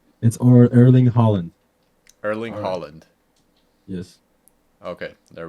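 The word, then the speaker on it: Erling Haaland: Holland Holland Holland Holland Holland oh Holland it's erling Holland erling Holland yes okay there we go we got the pronunciation right hey Google how do you pronounce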